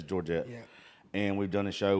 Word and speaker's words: Georgette: with Georgette Jones and Georgetta however the hell you say her name I always miss her name at it's Georgette and we've done a